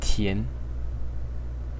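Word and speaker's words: 田: Which is pronounced tian. Tian.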